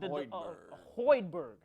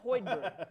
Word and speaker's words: Hoiberg: if i'm not mistaken it's Lloyd Berg Fred Hoiberg let me pronounce that correctly former Iowa State on